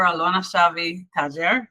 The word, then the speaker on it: Alona Shavi-Tajer: My guests are Yossef Shavi, owner of Baltimore's Yossef Laffa-Milia, and his daughter Alona Shavi-Tajer.